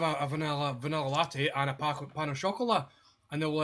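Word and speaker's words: pain au chocolat: A pan of chocolate. And I was like, no, you need to say it properly, man, fucking pan au chocolat.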